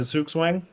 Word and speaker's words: Zugzwang: It's in the how do you say in the Zugzwang. That's the same as like in chess. Yeah. Zugzwang, Yeah.